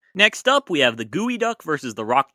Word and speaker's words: geoduck: It's derived from a Lushootseed word for the clam, which is pronounced gooey duck anyways.